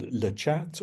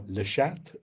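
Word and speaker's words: Le Chat: It's called Lehat or Lhat, up to you how you say it.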